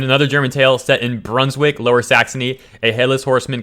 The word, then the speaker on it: Brunswick: this town in German I don't know how to pronounce it it's like a bran schwag brunch Weig probably but in English it's pronounced Brunswick which is a city